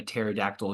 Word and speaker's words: pterodactyl: And one of my favorite ones is, why can't you hear a pterodactyl use the restroom? And you know why, Spencer? Because they don't know how to poop. Because P is silent.